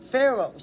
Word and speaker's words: pharaohs: which which uh pharaohs and that is spelled ph. See? So, and it has the f sound just like I've been doing. Pharaohs spelled P H A R and then A O H S.